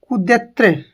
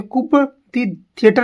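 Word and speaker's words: coup de théâtre: Next है कुद्यत्र। कुद्यत्र इसे कुप थिएटर नहीं बोलेंगे इसे बोलेंगे कुद्यत्र दत्र इसका मतलब होता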